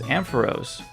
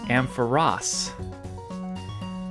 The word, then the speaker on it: Ampharos: Another common mispronunciation is Ampharos. That's what I call it, but I guess it's Ampharos. They really should have added another S to make that more clear.